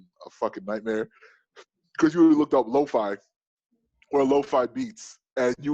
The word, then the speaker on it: LeauxFi: want to find me or my team at lo-fi across the board if i have it it's at l-e-a-u-x-f-5 i spell it that way people ask all time i